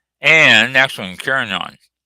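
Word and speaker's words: Carignan: i o n a l and next one kinon c a r i g n a n yes it is pronounced kinon and if it's not pronounced it's a French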